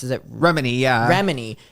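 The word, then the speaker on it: Remini: Well, but to give a little bit of clarification to people, how's it pronounced? Is it Remedy? Yeah. Remedy.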